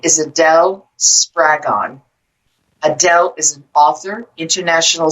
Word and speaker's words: Spraggon: to the show adele spragon did i pronounce your last name properly it rhymes with dragon makes it easy to remember dragon dragon and we discussed many